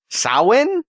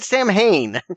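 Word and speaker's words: Samhain: It's the embodiment of, and forgive my pronunciation here, Sin. I always said Sam Hayne.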